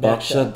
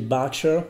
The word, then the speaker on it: Berkshire: And Berkshire isn't spelt like it sounds. Yeah. So Berkshire is written B-E-R-K-S-H-I-R-E. All right. And you pronounce it Berkshire. Berkshire. Not Berkshire. No, Berkshire. Right.